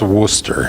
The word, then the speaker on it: Worcester: Massachusetts here Worcester Massachusetts it's pronounced Worcester so ah long story